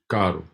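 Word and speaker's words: carro: you're yeah if you're if you're rolling it's Karu Karu if you're not rolling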